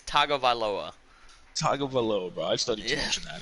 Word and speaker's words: Tagovailoa: Over on the yearly awards for the AFC, we have Tua Tugavila What? leading. Say that one more time. Tua Tugavila Nope. leading. Again. Bro, I ain't pronounced it. It's Tua Taga. T It's Tagovailoa.